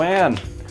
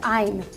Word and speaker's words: Ayn: please welcome rob delaney hello anne thank you for having me it is pronounced i'm are you sure you